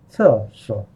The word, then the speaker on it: 厕所: So it's 4 3 so it's 4 4 no sorry no 厕所 no 厕所 Let's continue. Can you feel the air come out of your mouth as you say 厕, right?